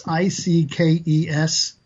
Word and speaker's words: Ickes: I say Ikes. It's Ickes. Yeah. Okay, I don't know. Is that how you pronounce it? Yes, it is.